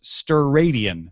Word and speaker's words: steradian: The unit for a solid angle is the steradian, pronounced steradian.